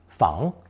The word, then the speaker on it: 房: Pronounced second tone, fang.